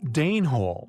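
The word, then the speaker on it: deneholes: such possibilities highly compelling Dan Hall yet pronounced Dane Hall after the Danes intriguingly their purpose although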